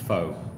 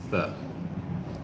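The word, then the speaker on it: phở: We've always said pho. You know, it's P-H-O. It has a little little marking above the O, if I remember rightly. You can check that out. But the Vietnamese pronounce it fur.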